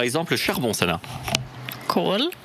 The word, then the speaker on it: kol: Kol. Kol, K-O-L, kol, c'est un O long ici, kol.